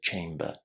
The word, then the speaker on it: chamber: And if you speak international English, which you probably do, you should say the R. Chamber. Just remember to make the R soft. Don't say chamber, but chamber.